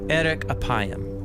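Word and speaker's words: אֶרֶךְ אַפַּיִם: In Hebrew, the phrase slow to anger is pronounced erek apayim, or literally long of nose.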